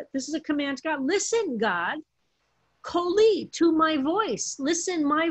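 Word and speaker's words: כל: And Rabbi report says, look at kol, which looks like it should be pronounced kal, but it's always pronounced kol.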